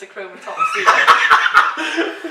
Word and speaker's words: achromatopsia: It's pronounced achromatopsia.